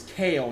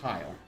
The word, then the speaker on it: Kale: You know, all of his socials and everything are always kale, not Kyle. Um, it's actually a lot of he he calls himself kale fresh and the fresh is spelled differently. It's like p h r e s c or something not like f r e s h. So it is kale. The character is kale.